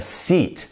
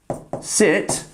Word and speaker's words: seat: she sat on the seat you're going to say she sat on the seat eat eat and yeah look you can see the word to eat here as well so actually when you're